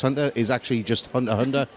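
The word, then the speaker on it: Hunter × Hunter: It's like Hunter X Hunter is actually just Hunter Hunter. You don't pronounce the X.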